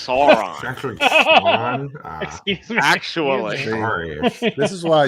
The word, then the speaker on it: Sauron: how you say whatever sauron man it's sauron like uh like the x-men guy the territory well actually it's pronounced sauron excuse me actually is why you can't take